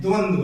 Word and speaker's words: द्वंद्व: अब इसका आप उच्चारण कर लीजिए, द हलंत है, आधे आधे हैं, व पूरे हैं, पूरे वर्ण में है, द्वंद्व है।